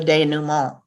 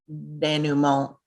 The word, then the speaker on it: denouement: romance you know the denouement of that arc when i first read the word danumo out loud my ex-husband laughed at my mispronunciation i include it here